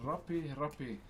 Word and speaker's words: rape: Now, please don't get it twisted with the way it's spelt. The way it's spelt is R-A-P-E, R-A-P-E, okay? But please, Maori language, not English, okay? Way different, way different.